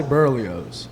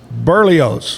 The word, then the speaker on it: Berlioz: And the last name almost like oats, like an oat. Barely oats. And you say I say burly. Burly oats.